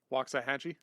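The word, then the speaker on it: Waxahachie: a XA ha c c h i e walks a hatchee yes yeah yeah yeah walk a Hatchy okay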